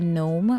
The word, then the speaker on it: gnome: I mean I've learned how to say gnome without the G wa um the no